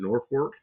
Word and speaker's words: Norfolk: it's they pronounce it Norport. Like there's an R in it. Northwork, Nebraska.